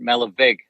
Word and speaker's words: Malerweg: And evidently it's pronounced Malavag.